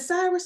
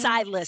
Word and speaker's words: Silas: Is it Cyrus or Silas? Am I saying it wrong? Silas. It's Silas. Okay. Silas. Yep, Silas.